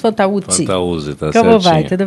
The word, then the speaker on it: Fantauzzi: É assim a pronúncia? Fantauzzi? Fantauzzi, tá certinho.